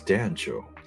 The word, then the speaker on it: Dancho: So the correct pronunciation is Dancho. Is it Dancho? Oh, yes, Dancho with the hard A, right?